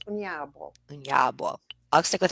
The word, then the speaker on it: Onyeabor: You said it right, the anglicized version, and I'll give everybody the Nigerian version. The Igbo version is Onyeabor. Onyeabor. I'll stick with Anyabo.